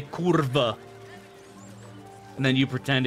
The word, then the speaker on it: kurwa: Polish person says Kur they pronounce it like a V not a w and then every single